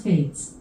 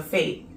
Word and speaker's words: Fête: She said that it's pronounced with a IE or an IA, so fate.